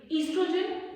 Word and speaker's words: estrogen: As you can see, the pronunciation of this word is estrogen. The O silent. So these two hormones, they are released by ovaries. Now why are they being released by ovaries? Estrogen and progesterone, they stimulate